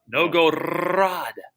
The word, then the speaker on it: Novgorod: Do you roll your R like that? Novgorod.